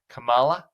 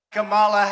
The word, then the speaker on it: Kamala: He also is intentionally mispronouncing her name, Kamala. Kamala, Kamala, Kamala, Kamala! Like with the emphasis on the last syllable, which is not how she pronounces it.